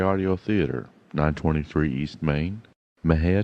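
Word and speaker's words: Mexia: theater 923 East Main Maha Texas Maha is spelled m x i a our ZIP 7666 M&J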